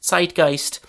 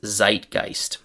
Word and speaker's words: zeitgeist: In English we pronounce this word as zeitgeist.